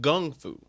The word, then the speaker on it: Kung Fu: side note you know Kung Fu is technically pronounced gungfu with the G not with a K yeah Kung Fu and